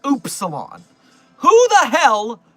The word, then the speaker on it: upsilon: I've just been pronouncing the word upsalon as the word upsilon my entire life. And it turns out that I live in a Mandela effect affected universe apparently where it's actually pronounced oopsilon.